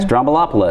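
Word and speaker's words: Stroumboulopoulos: Strombolopoulos.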